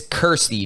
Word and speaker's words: Kirstie: dude Hershey alley it's it's Kirsty not Christy it's like k-i-r I said Kirsty right